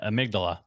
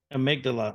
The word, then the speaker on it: amygdala: How do you pronounce that? The amygdala. Amygdala.